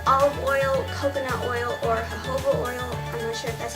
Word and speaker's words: jojoba: can use are olive oil coconut oil or jojoba oil that's how you say it but this is how you spell it this is going to keep you here